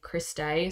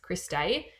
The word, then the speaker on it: cristae: bit so this is the Chris day sorry spelled like this Chris day so this is out